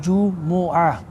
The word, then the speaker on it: Jumu'ah: Tinawag daw siyang Jumu'ah, ang tamang pagbigkas po ay Jumu'ah.